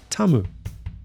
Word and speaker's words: Tamu: a Tom being hit TAMU h in Japanese as I understand it the u sound is barely pronounced so that when said